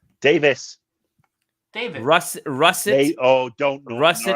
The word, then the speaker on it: Davies: Why do I say Davies? Because Americans saying that for like 12 He's Welsh, years. It's Davis.